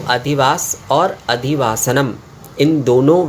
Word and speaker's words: अधिवासः: जो उच्चारण है तो उसमें अधिवास इसके लास्ट में जो है मतलब अंत में जो है इसमें विसर्ग आ रहा है और अधिवास इसके